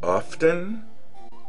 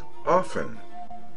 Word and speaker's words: often: T they always say often 50% said that they never pronounced the T they always say often 25% said that sometimes they do pronounce the T sometimes they don't in other words sometimes